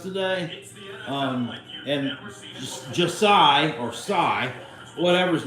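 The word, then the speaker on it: Jsi: a touchdown pass to a kid named Psy whose name is spelled j s i Hatfield on the first play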